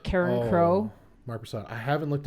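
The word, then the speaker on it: Carencro: How do you pronounce the album name? Karen Crow.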